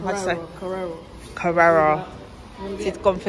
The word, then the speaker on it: Carrera: This, I say Carrera, but apparently I'm saying it wrong. Carrera. Carrera.